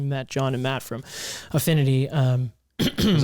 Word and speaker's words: Affinity: To the folks that don't know, it's Affinity. Yes. Affinity. And not Infinity. Infinity.